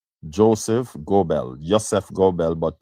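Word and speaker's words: Joseph Goebbels: G O E B L E I think it is the spelling Joseph Gobel pronounced Ysef Gobel, right?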